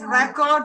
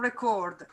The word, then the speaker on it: record: But generally speaking, the noun has the stress on the first or second syllable and the verb on the last syllable. For example... yes, record and record. The record, record, to record.